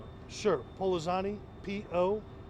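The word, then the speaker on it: Pollozani: Can you say your last name again, please, and spell it? Sure. Polozani, P-O-L-L-O-Z-A-N-I.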